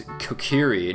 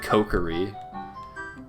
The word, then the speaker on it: Kokiri: it's ocarina not ocarina it's Kokiri not co curry but i could care